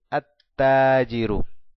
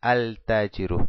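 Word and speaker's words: التاجر: No pronuncio el lam porque es una letra shamsia y es dificultoso pronunciar el lam y después la ta, por eso digo at-tajiru y no digo al-tajiru, digo at-tajiru, directo a la shadda.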